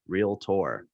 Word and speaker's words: realtor: with any realtor is remember realtor is two syllables real tour that's that's a big